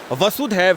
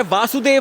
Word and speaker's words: वसुधैव: भगवान श्री कृष्ण ने वसुधैव में जो आरंभिक उच्चारण है वसुधैव है वासुदेव नहीं है वसुधा वसुधा का अर्थ